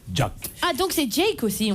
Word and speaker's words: Jack: qui fâche on dit on dit jack ou jacques ça s'écrit jack&jones tir vos parents vous ont appelé jack quand les parents était au low fils fana anglophile ils m'ont appelé jack attend que ces tchèques